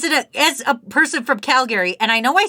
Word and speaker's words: Calgary: as a person from Calgary and I know I say it weird because most calgarians say Calgary like Calgary they don't say the other a they're like Calgary that's